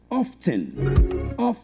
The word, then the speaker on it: oft: Now, the word often comes from the Old English word O-F-T, oft, which is always pronounced with a T, oft.